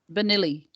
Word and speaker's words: Bernoulli: How do you pronounce it? Bernoulli? Bernoulli.